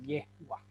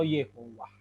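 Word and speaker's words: יהוה: Sehingga dari Yah tadi akhirnya ada juga YHWH diucapkan dengan Yahweh. Tapi sebenarnya YHWH paling banyak itu divokalkan dengan Yehwah. Seperti itu. Atau Yehovah.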